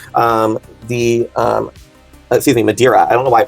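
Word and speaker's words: Madeira: Um the um excuse me madiraa I don't know why I pronounced that wrong.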